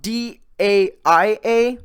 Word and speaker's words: Daia: It's spelled D-A-I-A.